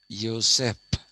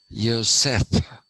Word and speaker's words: Joseph: joseph again pronounced though it's in english it is joseph but it is pronounced yoseph yosef that's how it is pronounced and telugu is the